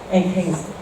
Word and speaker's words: Hengst: Se pronuncia Hengst.